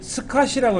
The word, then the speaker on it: SCSI: 그래서 나온 것이 스카시라고 읽어요. 스카시. 콩글리시로 그냥 스카시라고 있는데 SCSI라는 방식을 이용하니까는 빠르기도 무진장 빠르고요.